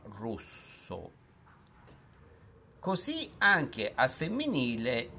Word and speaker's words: rosso: per genere e numero per esempio la parola rosso pronuncia con la o chiusa rosso così anche al femminile